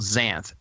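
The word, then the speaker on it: Xanth: of novels uh called Zanth spelled with an X X a nth t.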